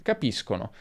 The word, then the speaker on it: capiscono: Se abbiamo o, si pronuncerà sk, quindi capisco, capiscono, ma se abbiamo e o i, abbiamo sh, capisci, capisce. E questo segue le normali regole di pronuncia dell'italiano. Finisco come sconto, per esempio, finisci come sci, finisce come pesce.